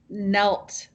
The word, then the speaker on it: knelt: You had one word that was so hard, and that is the word knelt. Now, Knelt. It's a very hard word. So we don't say the K.